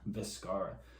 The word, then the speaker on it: Vizcarra: Vizcarra.